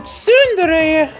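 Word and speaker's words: tsundere: you pronounced it yeah I guess I thought was like sere was like yeah or like sere something like that suere okay you are so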